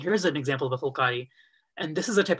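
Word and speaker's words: phulkari: this is called a fulcari so fulcari loosely literally translates to flower work so it's spelled p-h-u-l-k-a-r-i the first part of the word is full meaning flower and the last part is work flower work and it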